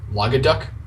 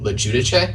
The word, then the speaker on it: LoGuidice: I've heard everything from like LoGuiduck, LoGducky, yeah, a lot of weird stuff. So what's the the national origin for that then? So it's an Italian name, but like the Italians pronounced it LoGuidice, and I guess at Ellis Island, the workers were like, "Oh no, you can't have like an I before a U. Here, we'll fix that for you."